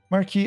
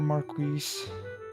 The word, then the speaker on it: Marquis: Marquee Elmor or Marquis. They they pronounce a couple different ways. I've heard a whole bunch of different pronunciations. I've always pronounced it uh Marquee, but your mileage may vary.